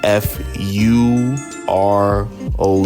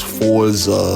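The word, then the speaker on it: Frozh: bro um fro and his name is spelled f r o z h fro it's not some cats that do know him they might think it's Forza or something for f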